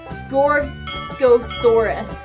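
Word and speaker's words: Gorgosaurus: and then this one apologies if I'm not pronouncing this right is a gorosaurus I just checked that's right yes and I'm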